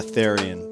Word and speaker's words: Therrien: How do you pronounce your last name? Therrien, but you know, Therrien.